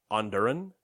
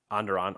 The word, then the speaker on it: Onderon: will feature the planets under an Sun and corillia tell me I pronounce that middle one wrong it's uh under on onderon okay well it's in dr.